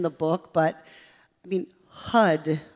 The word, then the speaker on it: HUD: I say this in the book, but I mean, HUD rhymes with thud.